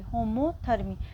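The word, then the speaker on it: homothermy: Common है वो है होम्योथर्मी। ठीक है, होम्योथर्मी, वैसे एक्चुअल में इसकी स्पेलिंग होती है होमो ऐसे करके, होमोथर्मी।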